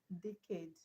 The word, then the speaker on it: decade: For example, we have decade. Decade. The stress is on ADE.